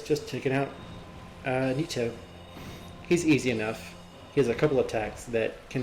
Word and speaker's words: Nito: Make your way to the top, and we're about to fight Gravelord Nito. I'm gonna call him Nito, putting an accent on the T instead of Nito, like Nito.